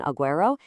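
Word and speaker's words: agüero: When you see those two little dots over the U as in aguero, it's a signal telling you, "Hey, pronounce me."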